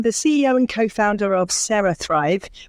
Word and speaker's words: CeraThrive: I'm the CEO and co-founder of CeraThrive, which is spelled CERA. I know it sounds like Sarah and Sarah, but it's kind of a play on, it's a neurotech product. So it's a play on kind of cerebellum or cerebral.